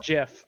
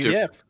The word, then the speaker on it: GIF: Caliban says Jiff, so we just give him shit for saying Jiff. No, he's correct. No, he's not. Yeah. Yeah, but no. It's No. Jiff. No, it's Jeff. It's He- Jiff.